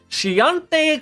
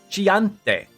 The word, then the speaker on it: Chianti: If you get wine, get Chianti Classico.